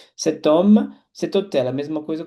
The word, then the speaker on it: homme: Como o H é mudo, ele não tem som. Cet homme, cet hôtel.